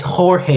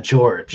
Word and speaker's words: Jorge: So it's Jorge, it's not George.